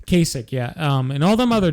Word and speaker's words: Kasich: Casey Howard, the fuck you pronounce that dickhead's name? Kasich, yeah.